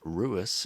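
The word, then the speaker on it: Louis: main leads, which is Lewis, also pronounced Ruis in the Japanese, how it should be actually pronounced.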